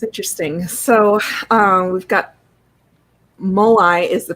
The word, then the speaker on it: Moai: So we've got Moai is the pronunciation, says Gibson.